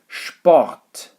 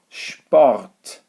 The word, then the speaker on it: Sport: write the word sport there is no sp instead it's spot spot okay so sh again